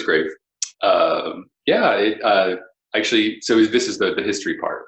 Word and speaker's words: Graefe: although it's funny because my high school nickname became Graefe. I had a French teacher for some reason who would like to pronounce it. Everybody thought that was so funny. I was like, that's not how it's said. So some people call me Graefe, but it's Graefe.